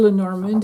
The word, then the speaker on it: Lenormand: one is called the dreaming way lenamon or lenormand if you want to pronounce it like that the English way rather than the French I or you can